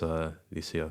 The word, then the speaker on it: Lucia: heard my name and they called me like Luciana or something like that. I was like, damn, like you really butchered my name. But yeah, it is Lucia.